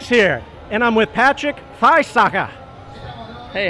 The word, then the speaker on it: Friesacher: Hey, Drivetribe, Migz here, and I'm with Patrick Friesacher. Hey, how are you? Is that how you pronounce it? Yeah, that's right. Hey, Drivetribe. Migz here, and I'm with Patrick Friesacher.